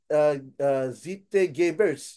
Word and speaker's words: Zeitgeber: Sebutnya kayak Zeitgebers jadi bacanya.